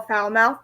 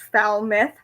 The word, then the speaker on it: Falmouth: I'm going to Lynch we have Falmouth or people call foul mouth but you will get looked at if you call it that in that area it's Falmouth hmm it's where the